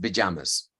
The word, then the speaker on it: pajamas: most likely two Americans it's actually pronounced pajamas pajamas okay aspiration both in